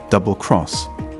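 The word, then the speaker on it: XX Committee: out across Europe the British EXA committee pronounced double cross had turned every German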